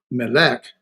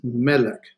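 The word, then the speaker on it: מלך: It's not melek, it's melek because the accent's on the first syllable.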